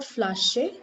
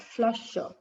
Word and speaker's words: Flasche: Now whenever a word ends with A or AR, this pronunciation is going to be O at the end. So this is not flasche, but flasher.